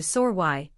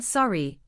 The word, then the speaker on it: sorry: Many Canadians pronounce this word closer to sore y with that same raised vowel sound we just talked about rather than sorry, which is more common in American English.